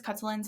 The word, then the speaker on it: Khutulun: cin as her cin cin as most common pronunciation also heard kutan and hin hin yeah so the most common I've heard is kutlin so that's what I'm going to be referring